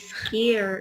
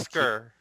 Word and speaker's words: skier: No, that is skier. Is skier. Skier. Skier. Skier. Skier. Skier. Skier. Not skir. Skier. Skier. Skier.